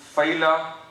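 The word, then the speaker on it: fila: this tricuspid annulus or collagenous ring is called phyla, or phyla, you can pronounce it coronaria, F-I-L-A.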